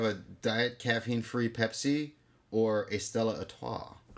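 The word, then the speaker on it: Stella Artois: diet caffeine-free Pepsi or Estella atah Estella is that how you pronounce it Estella ATA I think so I think the r is silent it's not a toce no a all right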